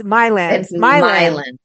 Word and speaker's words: Milan: and and it is is it Milan mil it's Miland yeah mil you said my yeah I think a